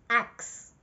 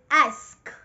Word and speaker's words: ask: I often hear people say, axe. No, this is an axe, okay? So the correct pronunciation of this word is ask. Ask. Exactly as it's spelled. Ask. The S before the K.